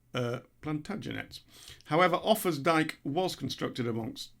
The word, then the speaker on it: Plantagenets: Plantagenets is not pronounced Plaganets or Plagentets, as I described them, twice, embarrassingly so, Plantagenets.